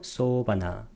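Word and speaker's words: sobhana: 자, 아름다운 마음부스들도 두 가지가 있는데 소바나 째스카가 아름다운 마음부스데 소를 길게 발음해야 돼요. 소바나.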